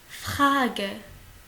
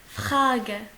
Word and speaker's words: Frage: Frage. Frage. Frage. Attention, R il se prononce comme un KH. Frage.